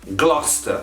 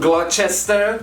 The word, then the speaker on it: Gloucester: number three gloucester again you get o u c e now pronounced us gloucester not glochester like most lorry drivers might say typical english place